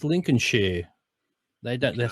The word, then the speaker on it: Lincolnshire: should I say yeah but they they don't pronounce it like that they said it's lincolnshire they don't let say not